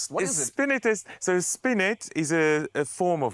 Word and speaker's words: spinet: to just save myself here how do I pronounce that word spin spin what is it spst so spinet is a a form of harpsicle normally a